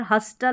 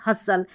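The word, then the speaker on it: hustle: यहां पर हस्टल नहीं हसल।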